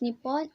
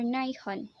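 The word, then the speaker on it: 日本: Japan, pronounced in Japanese as Nippon or Nihon, is a Pacific Ocean islands nation off the coast of mainland Asia.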